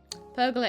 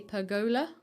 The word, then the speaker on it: pergola: Pergola is actually a completely correct way to say it, okay, guys. And it seems to be a bit of a British way, apparently. So I think other people may say pergola, but I will continue